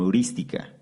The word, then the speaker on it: heurística: se le conoce como heurística. Heurística, con H y con acento en la primera I.